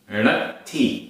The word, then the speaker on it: णत्थी: णत्थी, णत्थी आधा ता था छोटी की मात्रा, णत्थी।